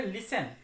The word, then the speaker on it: listen: इसके उच्चारण पर ध्यान देंगे, LISTEN। इसको हम लोग पढ़ेंगे लिसन, इसमें T साइलेंट रहेगा।